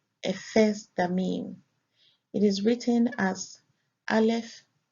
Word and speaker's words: Ephesdammim: It is pronounced Ephesdammim.